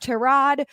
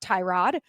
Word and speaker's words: Tyrod: And look, the Jets are going to start Terrod, which I found out for Baker Mayfield is the right way to pronounce it, not Tyrod.